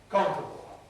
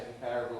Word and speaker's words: comparable: Compare, comparison, comparable. Some people say comparable or comparable, but if you say it with a stress on the com, then you get weakening comparable.